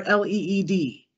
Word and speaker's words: LEED: Is it LEED or L-E-E-D?